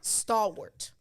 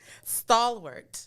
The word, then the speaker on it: stalwart: will the r word stalwart stalwart it's spelled w-a-r-t but it's pronounced ort like sport right um so if